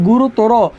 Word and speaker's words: গুরুতর: দেখো এখানে বলছে শব্দের শেষে যদি তর, তম এবং আন প্রত্যয় থাকে, শব্দের শেষে তর, তম, আন প্রত্যয় থাকে, সেক্ষেত্রে অয়ের উচ্চারণ কি হয়? ও হয়।